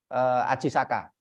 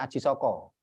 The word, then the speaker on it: Aji Saka: orang umum mengenainya adalah Aji Saka bacanya Ajisaka bukan Aji Soko karena sastra Jawa itu mulai mengenal vocal O itu setelah abad 15 Nah setelah itu ada